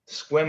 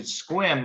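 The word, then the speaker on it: Sequim: i was a kid i thought it was funny because it was uh it's spelled sequin it was yeah and actually i'm lying because this i'm not lying but i misspoke squim is on this side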